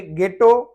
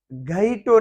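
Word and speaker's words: ghetto: और यहाँ पे गेटो, घईटो नहीं पढ़ेंगे, गेटो।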